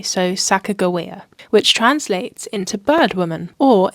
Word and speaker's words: Sacagawea: that's debated in hia her name is pronounced with a hard G so sakoa which translates into birdwoman or if it's Saka jaia it means boat launcher